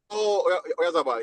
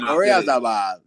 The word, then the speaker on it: Oyarzabal: Oyarzabal, yeah, bro. He's a that's how you say it. Say it again. Say it one more time. Yeah, Oyarzabal.